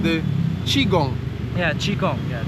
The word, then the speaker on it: qigong: it wrong but please correct me on the pronunciation the chiong yeah chiong yeah chong chong yeah so can you talk a little